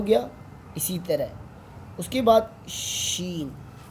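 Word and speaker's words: ش: अब सीन शीन का मैं कॉन्सेप्ट देता हूँ आप लोगों को।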